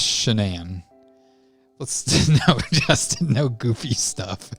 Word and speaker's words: Shanann: Is it pronounced Shanann or is it Shannan? It's Shanann.